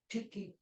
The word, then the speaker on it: Tyche: I'm saying it right, Tyche, Tyche, same goddess, different names. Tyche, I think. Elvis. Yes. What's the right pronunciation? Tyche or Tyche? Tiki. Say it again. The Greek word is tiki.